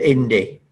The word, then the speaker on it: Indy: there's a project called indy indy like indeed like the indy 500 and either of those